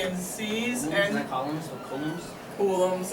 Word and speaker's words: coulomb: I looked up how it's supposed to be pronounced. Have you heard it Coulomb? No, but it looks like column. Yeah, I looked it up and it said Coulomb. Coulomb.